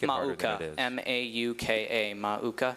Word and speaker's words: mauka: Mauka. Okay. The temptation here is to make it harder than it is. M A U K A.